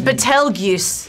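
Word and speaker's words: Betelgeuse: yeah g e and it's betel guse betel betel that's how you say it but like of course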